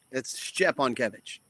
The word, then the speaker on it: Szczepankiewicz: How do you pronounce your last name? You're like right there. It's Szczepankiewicz.